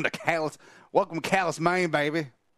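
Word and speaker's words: Calais: don't know exact so this town is spelled c a l a i s and it's obviously an homage to Cal you know the French city except us Americans always Ru pronunciations callus welcome to Callis welcome to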